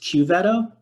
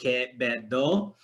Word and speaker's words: Quevedo: So it would be Quevedo, because like that QU digraph also, you would simplify it to a K sound.